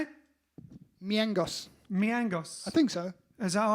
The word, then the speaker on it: Mijangos: South American, so you pronounce the J differently. All right then, so Susanna Miangos, not Mijangos, don't say that.